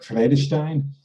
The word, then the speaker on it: Vredestein: then no but uh if you were dutch you know you might you might pronounce it more like freddystein okay and and you